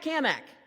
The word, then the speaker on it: Cammack: Hey, Cat Kamak. Now, he always made a point to say my name right. and he put an emphasis on the Mac because he was always